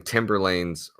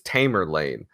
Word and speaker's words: Tamerlane: a grave reality that I have been been pronouncing timber lanes name wrong this entire time it's Tamerlane I have dyslexia so please